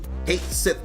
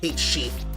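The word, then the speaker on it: Cait Sith: lot and Kate s Kate Sith meowing it was cool that's how it's pronounced in Final Fantasy 7 anyway not Kate sheep Kate Sith meow meow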